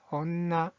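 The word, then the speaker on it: 女: 자, 여자라는 뜻을 가지고 있는 이 한자의 발음은 온나, 온나.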